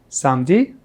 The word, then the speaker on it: samedi: Samedi, samedi. So here we don't pronounce the E in the middle.